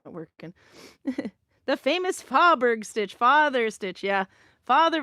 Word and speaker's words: Fåberg: But F-A with a circle over it, B-E-R-G is pronounced Fåberg. But if you don't know and you're pronouncing it with an English pronunciation, it'd be easy to say Fåberg. American would say Fåberg, and then that could sound like father over time.